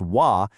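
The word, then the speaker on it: و: But, the Arabic word for "and," which is pronounced "wa," isn't left floating out there on its own.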